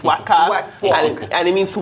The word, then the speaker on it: Waka: know what coming cause i was i was mispronouncing it he was explaining to me that it's waka yeah and it means to walk yeah now